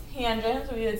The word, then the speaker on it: tangent: And then tangent of theta right, abbreviated TAN, but still pronounced tangent, so we would say